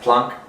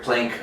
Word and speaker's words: Planck: I think it's actually pronounced Planck, but you'll hear Planck all the time in the US.